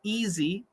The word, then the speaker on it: easy: silent so for example easy e-a-s-y the a is silent so don't worry about the